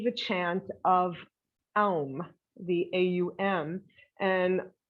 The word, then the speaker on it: aum: elm the aum and i'll show you how to pronounce it how to do it and it takes a little work with your mouth so you start with an ah so it's oh so you make make a circle with your lips um